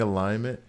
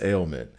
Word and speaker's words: ailment: Is everyone saying alignment? It's ailment.